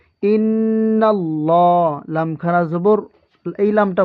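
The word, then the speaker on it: إِنَّ اللّٰهَ: লামটা মোটা হবে কেন আল্লাহ শব্দের লামের ডানে হরফে জবর অথবা পেশ থাকলে ওই আল্লাহ শব্দের লাম মোটা করে পড়তে হয় যেমন নুনের উপর কি আছে নুনের উপর আপনারা দেখতে পাচ্ছেন নুনের উপর জবর আছে এজন্য এই আল্লাহ শব্দের লামটা পুর করে পড়তে হবে যেমন ইন্নাল্লাহা ইন্নাল্লাহা এই ওয়াজিব গুন্না এই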